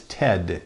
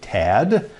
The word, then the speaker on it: Ted: an unusual name you felt the pain of mispronunciation boy have we ever my name is Ted te D you'd be surprised at how many